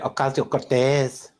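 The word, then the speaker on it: Ocasio-Cortez: And no, you have to say it right. It's Alexandria Okalio Cortez.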